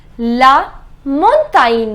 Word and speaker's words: montagne: okay so that means G does not have any sound whenever GN comes together so the sound becomes near I am written few